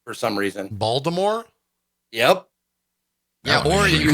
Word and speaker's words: Baltimore: I did learn this weekend that if you're local, you don't pronounce the T in Baltimore. You pronounce it as a D for some reason. Baltimore?